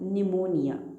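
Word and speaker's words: pneumonia: जैसे ये है PNEUMONI, निमोनिया, इट इज़ निमोनिया।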